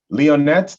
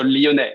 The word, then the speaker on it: Lyonnet: speak next is victor leonette did i pronounce that uh the last name correctly yes perfectly i mean except maybe for the last letter that you don't pronounce so leone but that's that's very